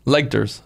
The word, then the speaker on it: Legters: Legters. Yeah. Leg, like a leg. It's literally Legters.